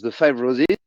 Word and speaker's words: The Five Roses: Mais c'est vrai que quand on prononce The Five Roses, ça fait, entre guillemets, en anglais, c'est les 5 roses. On n'entend pas, ça se prononce exactement pareil.